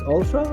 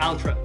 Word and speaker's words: Altra: thank you for joining us so I've known Ultra for some time is that how you pronounce it Ultra or yeah Ultra Ultra and I've been following tabs or keeping